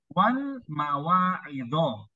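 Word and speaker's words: wal-mawa'idh: Jadi di sini bacanya wal mawa'idho.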